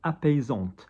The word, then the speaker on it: apaisante: Apais, A-I, apaise, look at the S, one S in the middle of a word, hence Z, apaisant. And because there's an E on the end of this, because it's cream, and cream is a feminine word, apaisante.